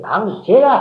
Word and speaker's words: 방제: 방석과 저주란 말이 아니고 저주란 말이 아니고 그것도 방저라고 읽기도 하는데 방제라 해야 맞아요. 꼭 그걸 저라고 읽을 필요가 없단 말이에요.